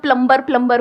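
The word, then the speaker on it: plumber: सब लोग प्लम्बर बोलते हैं हमारे देश में, बढ़िया है यार, क्या दिक्कत है? बी साइलेंट है उसमें।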